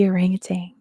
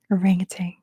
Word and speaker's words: orangutan: the answer is the orangutang orangutang I know that's not how you say it anywhere else in the world that's how we say it in America for whatever reason number 114 what is